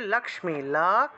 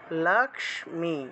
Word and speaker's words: লক্ষ্মী: এটা হলো লক্ষ্মী রূপেণ, লক্ষ্মী উচ্চারণটা হবে লক্ষ্মী, লক্ষ্মী, লক্ষ তারপরে মি, লক্ষ্মী।